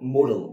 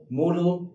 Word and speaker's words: modal: let's talk about the model actually work the pronunciation of this word is correctly like Moodle okay this is not called modal auxiliary most of the people they pronounce this word like uh like model auxiliary verb but the right pronunciation is that Moodle obviously